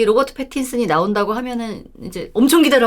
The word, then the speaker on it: 패틴슨: 사실 팬티요? 로버트 팬티요? 죄송합니다. 아니 무슨 생각을 하고 계신 거예요? 사람한테 팬티라니. 죄송합니다. 정확하게 발음했어야 되는데 로버트 패틴슨. 네, 패틴슨. 패틴슨. 그 유명한 영화 갑자기 제목이 또 기억이 안 나냐?